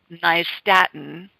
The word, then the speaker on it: nystatin: a doctor and get nystatin, which is spelled NYST as in Tom, AT as in Tom, IN, nystatin.